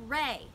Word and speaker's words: re: little bit and pitch we're gonna say ray this is spelled r e dough is D Oh looks like do but we say dough ray is our e and what your